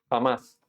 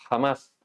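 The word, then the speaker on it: חמס: Jamás. Así se pronuncia iniquidad en hebreo. Jamás.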